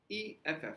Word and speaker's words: F: For example, F is pronounced EFF. So F. So look at my lips. F. Like it starts with E.